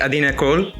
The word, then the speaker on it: Adina Kroll: begin our today's episode today our guest is adeena kohl did i pronounce it right you did yes thank you